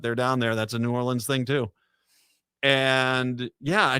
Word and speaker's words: New Orleans: is New Orleans although they say new New Orleans and you don't say it like that they get mad at you it's New Orleans and don't say nin no New Orleans that's yeah there you